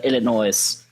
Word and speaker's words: Illinois: First of all, the F in Illinois is silent.